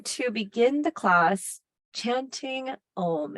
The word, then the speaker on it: Om: We're going to begin the class chanting Om. It is a sound of 3 syllables, A, U, and M.